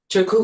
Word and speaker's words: Turku: Her recent artist film, Epistemologies, was screened by Turu Video, am I pronouncing that? Turku Video Arts Festival in Finland in March 2025.